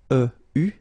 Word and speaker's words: eu: You write it like that, eu, but then phonetically, what you will have to pronounce is u.